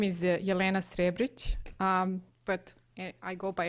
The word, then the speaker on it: Jelena Srebric: our second speaker and I need help with pronunciation is this jelina shrec from the University of Maryland please say your